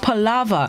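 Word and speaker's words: palaver: the day this morning p a l a v e r pronounced pallava and it's unknown which means profuse and idol talk or chata palava yappin aka yappin talking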